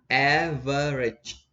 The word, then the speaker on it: average: average look at this average the stress on the first syllable average average average example